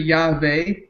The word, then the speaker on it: Yahweh: you aware that uh the word jehovah uh is a transliteration of the consonants of yahweh and the vowels from adonai the proper pronunciation which is interesting that they're changing it to jehovah is actually yahweh in the hebrew tongue if we're gonna you